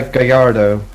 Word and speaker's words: Gallardo: I keep telling people it's pronounced this way. What is? Yeah. Gallardo.